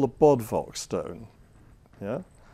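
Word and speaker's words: Bodvoc: a guy here called Bodvok. Actually, that V wouldn't be pronounced like a V, it'd be pronounced like a U. So it'd be Hic Yachit Bodvok. Yeah, Boduk, something like that.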